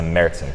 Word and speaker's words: Märzen: It's a Märzen, correct.